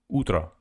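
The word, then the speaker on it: утро: Ultra utra also o instead of O they pronounce it as a utra utra ultrautra f thank you exploring I guess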